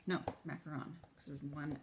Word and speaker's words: macaron: I think it's macaroon. No, macaron, because there's one O.